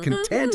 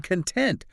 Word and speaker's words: content: Like content, if you're happy, but then content, like what's inside something, it's the same word. It's just the stress changes it.